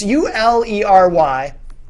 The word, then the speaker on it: Ulery: Jordan, I'm not sure how to say his last name. Ullery? It's Ulery.